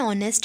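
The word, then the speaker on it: honest: article इनका Gopal Jain ऑनेस्ट मैन तो यहां पर हम इसको ऑनेस्ट पढ़ते यहां पर भी जो है वह क्या है वह भी साइलेंट है इसीलिए यहां पर यूज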